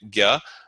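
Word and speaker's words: ज्ञ: the J followed by this N with the tilde on it is pronounced like Gya.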